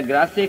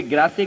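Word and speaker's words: Grasse: जिस तरीके से फ्रांस में ग्रास या ग्रासे कहे, वो वहां की फ्रेंच कैपिटल, परफ्यूम कैपिटल मानी जाती है। फ्रांस में परफ्यूम कैपिटल अगर है कोई, तो कोई ग्रासे कहता है, कोई ग्रास कहता है।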